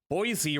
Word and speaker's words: Boise: Boise rhymes with Joy.